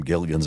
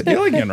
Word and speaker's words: Gilligan: written in the credits I'm like that's Gigan right it is Gilligan Gilligan that's what he overcame